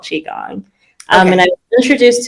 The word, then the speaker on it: Qigong: I don't even know if I'm going to pronounce it correctly. Is it Okay. Qigong? Oh, close, Qigong.